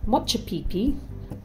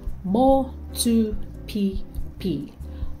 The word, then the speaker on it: Motupipi: Don't say Motchupipi. Try Motupipi. Motupipi.